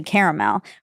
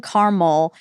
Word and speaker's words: caramel: Yes, the Southern pronunciation of caramel is typically caramel, which is a 3-syllable pronunciation. This is in contrast to 2-syllable pronunciation, caramel, which is more common in the West and Midwest.